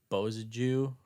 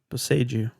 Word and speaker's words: Boseiju: I did Bozaju, who endures. Bozaju? Bozaju? How How do you say that? Boseiju.